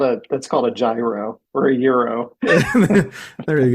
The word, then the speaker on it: gyro: I know the right way to say it is a euro.